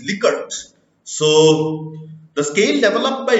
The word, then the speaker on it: Likert: me tell you that often it is mispronounced the Swigert it is not like it is liquor so the scale developed